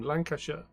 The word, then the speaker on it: Lancashire: How do people say I always say sheer, but people say Lancashire. I mean, it is Lancashire. It's supposed to be Shire because they are Shires.